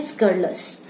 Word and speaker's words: scurrilous: इसे हम कहते हैं स्कर्लस। स्कर्लस। ठीक है, स्कर्लस। और इसकी स्पेलिंग है SCURRILOUS।